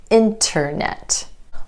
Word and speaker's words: internet: It's easier to say internet than internet.